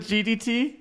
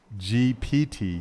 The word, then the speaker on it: GPT: up are you yes is it gdt no what is it called GPT GPT oh I'm so messing